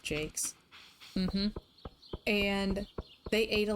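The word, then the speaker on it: Jacques: Like, I read a lot of the Redwall books by Brian Jakes. He pronounced it Jakes.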